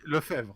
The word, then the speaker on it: Lefebvre: I don't know how to pronounce his last name. Sorry. Okay, Lefebvre.